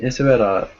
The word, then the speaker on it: Isabella: well okay nice and Isabella am I saying your name correctly how do you say your name oh no it's perfect what perfect where are